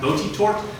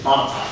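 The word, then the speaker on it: Botetourt: in Williamsburg, which looks like it should be pronounced Botitort, but it's Batatai.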